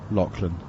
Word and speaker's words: Lachlan: That one is driven out towards the sweeper on the cover boundary, but I'm told by our always knowledgeable producer Scott Taylor that it's actually pronounced in New Zealand anyway, Lachlan.